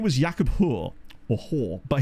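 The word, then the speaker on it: Haar: His name was Jakob Hoor, or Hoar, but his name was spelled H-A-A-R, but obviously because Norway, that would be pronounced Hoar.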